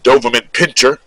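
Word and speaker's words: Doberman pinscher: It was more like you had the Doberman pinch and then pincher, Doberman pincher.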